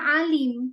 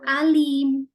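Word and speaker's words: عليم: Harusnya alim pakai ain. Ternyata dibacanya pakai a, alim. Nah, itu gimana artinya?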